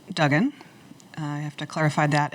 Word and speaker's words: Duggan: Well, Mayor Dugen is Dugen and I'm Dugan.